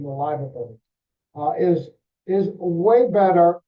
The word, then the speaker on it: Liverbirds: Barry corrected me when I called them the liverboards, uh, then that's the correct pronunciation, the liver birds, uh, is is way better told by the, uh, by the New York Times.